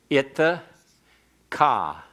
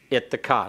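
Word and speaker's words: אִתְּךָ: So there's two T's in it. There's two T's in it. It's a doubling dogish as well as a hardening dogish in the Bagad Kafath letters. So always keep the double T and always make your schwa vocal.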